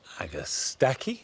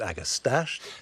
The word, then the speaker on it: Agastache: back that's the cutting back now this is agastaki or some people pronounce it agastache this is a variety called rose mint that